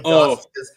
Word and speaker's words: Garth: Garth, but all the Garths. Keep in mind, for those who are not American, it sounds like arse, as in how the British say arse.